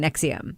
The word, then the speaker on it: NXIVM: Escaping NXIVM, which I now know how to pronounce thanks to the podcast Uncover Escaping NXIVM.